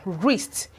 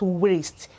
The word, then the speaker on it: wrist: This is pronounced as wrist and not wrist. It is wrist. This law says that when the W and the R begins a word, that the W is usually silent.